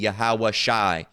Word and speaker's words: Yahawashi: yahawah Shai all right but pronun uh correct pronunciation would you you know you drop the uh uh the Y and just the the the the W part and just keep the ey so it would be yahawashi yahawashi all right in